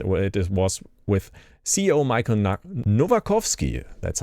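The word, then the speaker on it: Michał Nowakowski: Well, it was with CEO Michael Novakovsky, that's how you pronounce it.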